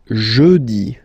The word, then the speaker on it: jeudi: Jeudi. Remember, when you combine this E-U, you get the sound E. Jeudi. Jeudi. So I insist a little bit, so make it softer. Jeudi. Jeudi.